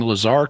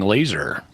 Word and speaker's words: Lazar: And points to Cy Kellett for pronouncing Lazar correctly and not saying laser.